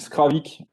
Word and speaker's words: Skravig: Donc, Skravik, ça s'écrit pas comme ça. On a fait une petite faute d'orthographe volontaire pour la prononciation. En breton, ça s'écrit Skravig, mais le G final se prononce K.